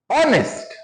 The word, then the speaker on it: honest: व्हाई वी are using N here before honest man? Why? Because students, honest, H is a silent and remaining O-N-E-S-T.